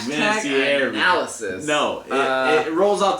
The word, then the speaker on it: Vinatieri: I emphasize the extra I.